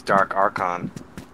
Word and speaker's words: Dark Archon: dark Arch dark uh I always say it like Eddie does dark archin but I'm pretty sure it's dark archon yeah I always say